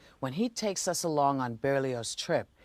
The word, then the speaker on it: Berlioz: brilliant french composer hector berlioz that's barely yours the z is pronounced he called it symphony